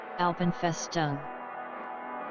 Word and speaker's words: Alpenfestung: Oh, You got pronunciation guide for it? ALPENFESTUNG.